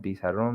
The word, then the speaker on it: pizarrón: Pizarrón meaning board. Pizarrón. As you can notice, the strong part, the word, the strength is on ron.